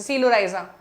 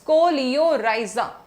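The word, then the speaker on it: coleorhiza: कोलियोराइजा pronunciation clear रखना है इसको बच्चे. सीलो, सोली, पता नहीं क्या क्या बोल रहे हैं सीलोराइजा. इट्स not silo, it's कोलियोराइजा.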